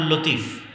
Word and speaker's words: লাতিফ: আমাদের মধ্যে অনেকের নাম আছে আব্দুল লতিফ। আছে না নাই? আছে। আছে। এই লতিফের সঠিক উচ্চারণ হচ্ছে লাতিফ।